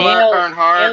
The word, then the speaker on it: Earnhardt: Dale Earnhardt. Dale Earnhardt. Yeah. Don't ask me how to spell that, but yeah, Dale Earnhardt.